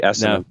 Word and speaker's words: assonantal: Well, now that you have a definition, do you want to give me a pronunciation? Yeah, assonance. So it'd be assonantal.